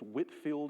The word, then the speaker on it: Whitefield: The other two will George Whitfield um sometimes you'll see it whitefield. It's Whitfield is how you say it.